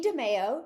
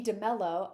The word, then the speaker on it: DeMello: So DeMeo, she is my best, I learned it's DeMello. I'm sorry, for mispronouncing your last name all these years, but